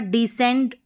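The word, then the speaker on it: descent: तो यहाँ पर नियम देखा आपने, SC के बाद जो है E आ रहा है तो यहाँ पर डिसेंट पढ़ा आपने।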